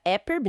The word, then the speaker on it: EPIRB: Temos as balizas mais conhecidas, a EPIRB, que a gente pronuncia EPIRB, né?